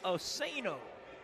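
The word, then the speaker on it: Ousseynou: Okay, first name is spelled S-A-G-N-A, but they're saying it's Sonya, O-U-S-S-E-Y-N-O-U, Asano.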